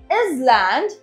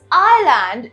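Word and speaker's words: island: next इज आईलैंड आईलैंड we don't say इज लैंड इट्स आइलैंड in which S इज always silent जब आप आईलैंड को इज लैंड बोलते हैं it's always incorrect right next इज साम साम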